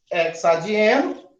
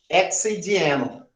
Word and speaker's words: hexadieno: Hexa, se não tiver suar, fica como se fosse boca murcha. Hexidieno. Hexidieno. Olha lá. Hexa, entonação, pronúncia. Fica melhor.